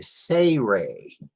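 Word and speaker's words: tsere: Now this next letter is called a say-ray. Say-ray. I spell it T-S-A-Y-R-A-Y. Say-ray. Because it has a funny TS sound at the end, at the beginning. Say-ray. And it makes an AY sound, as in bay or X-ray.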